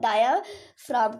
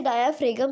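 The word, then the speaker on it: diaphragm: नीचे, उसे हम लोग डायाफ्राम कहते हैं। बहुत सारे लोग इसे डायाफ्रेगम कहते हैं। तो जी जो हमारा होता है वो साइलेंट होता है, तो ये डायाफ्राम इसे हम लोग कहते हैं, ठीक है।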